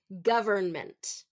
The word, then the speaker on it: government: here we go government so often the middle syllable is often reduced in fast speech so instead of govern government it would be government government just first syllable stress and kind of reduced on the rest of them government government government government